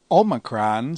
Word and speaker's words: Omicron: Omicron sounds like the O in omelet. We will pronounce it as the O in obey, as in modern Greek.